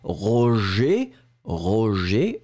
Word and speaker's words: roger: So one more time, we'll just take the time to pronounce the first one, roger, roger, je, je, je, je, je.